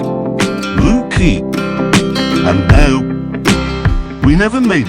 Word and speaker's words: Looe Key: And it's not pronounced Looe Key as you would expect. It's pronounced Looe Key.